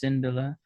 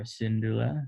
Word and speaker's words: Syndulla: called at harrah's hideout like harris cindella or syndulla depending on if you like the thrawn pronunciation or the cinderella pronunciation so at harris hideout